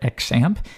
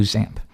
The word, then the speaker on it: XAMPP: at something we call XAMPP. You might hear some people call it XAMPP. Either one really works. There's no official pronunciation, but most people do XAMPP.